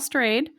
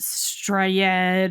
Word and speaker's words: Strayed: Yes, it is pronounced strade embarrassingly in undergrad before I'd read the book and understood that she changed her name intentionally to stray and covers that actually in wild. Um, I thought it was some weird uh Norwegian name or and so I pronounced it straed or I don't even know.